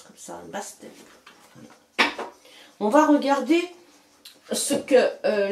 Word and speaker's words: Bastet: Ça se prononce comme ça, Bastet.